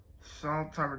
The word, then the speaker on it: Sondtimer: Sondtimer, there's no U there.